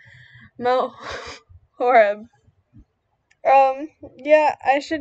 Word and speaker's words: Mount Horeb: And then we have Appleton, and then we have Shimano. I've been informed that it is Mount Horeb.